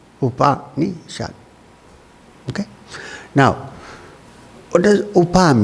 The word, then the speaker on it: Upanishad: whole operation we have you can divide it into three syllables actually one the first is OPA the second is me in the last is shut Upanishad okay now what does